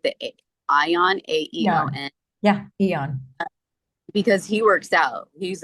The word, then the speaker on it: AEON: The Ion, Yeah, AEON, yeah, Eon.